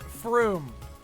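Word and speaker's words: Frome: That's just from with an E on the end. It's pronounced from. It's pronounced froom.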